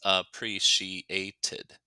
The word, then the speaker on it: appreciated: And notice here, the green one, tid, the pronunciation rule after ed, the pronunciation rule for ed after a t sound is to add 1 syllable. So appreciate, in the past tense, appreciated.